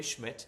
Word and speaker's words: Schmidt: Uh, they also added a kicker, Andre Schmidt. That's how you pronounce his last name.